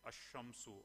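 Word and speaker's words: الشَّمْسُ: the ism has al, we normally do not pronounce the lam, but we directly go to the next word, like ash-shamsu, at-talibu.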